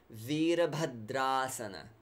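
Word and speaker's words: vīrabhadrāsana: series and we say Veerabhadra asana Veera the ease long era is the Sanskrit era not the English or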